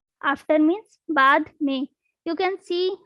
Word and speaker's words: बाद में: After means बाद में, बाद में. This is BAD. So you cannot pronounce the meaning of after is bad me. It will be बाद में, बाद में.